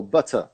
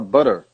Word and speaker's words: butter: A palavra better ou butter, eu falo com T, que é o que é pronunciado pelos ingleses. O americano, ele fala better, ele fala butter. O T vira R.